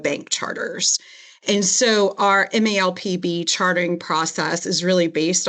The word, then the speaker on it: MALPB: And I think everyone has a different view on how to say the name. And so it's a mouthful. At our department, we call it the MALPB.